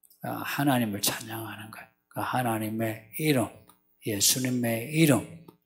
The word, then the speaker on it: 예수: 또 예수도 영어는 그 지저스 하는데 지저스 그 발음이 틀렸어요. 예수예요. 예수 이 발음이 그래도 히브리 발음에 훨씬 가까워요.